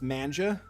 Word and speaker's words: manga: read manga i quietly mutter to myself half joking natsuki's head suddenly perks up it's actually pronounced manja it looks like she